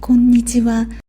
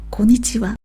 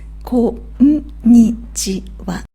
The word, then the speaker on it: こんにちは: You could say こんにちは from mid-morning until late in the afternoon. But be careful with the rhythm. It is こんにちは 5 syllables.